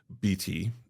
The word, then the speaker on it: Betit: And my own surname, BT, is how we pronounce it now.